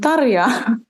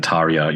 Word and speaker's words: Tarja: Yeah, and apologies for my Australian accent saying Tarja. It's Tarja.